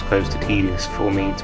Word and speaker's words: Tidus: love any variation of titus's theme that's an interesting question for everyone watching which pronunciation do you prefer titus ortiz because supposedly canonically it is supposed to be pronounced tedious and i just hate